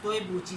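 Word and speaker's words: 对不起: Has toebuchi.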